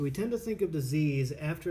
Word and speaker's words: dis-ease: Okay, so this concept, this dis-ease concept, is huge in chiropractic, and you notice that I wrote it and I pronounce it as dis-ease and not disease, which is spelled the same.